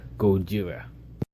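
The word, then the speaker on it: ゴジラ: And that is about Godzilla, or as he pronounces it, Gojira, which is his Japanese, the way the Japanese version of how it's supposed to be said. Not Godzilla, Gojira.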